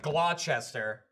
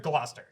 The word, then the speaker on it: Gloucester: phonetic there's always the one that looks like Glo Chester and it's mastered Gloucester Gloucester yeah so you say the C there but you don't say the C here what do you say Gloucester's what was he saying England I lost that